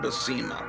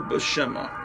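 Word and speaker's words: Buscema: i called it this i called his name bessema but i think it's more bashema or somewhere in between you know i don't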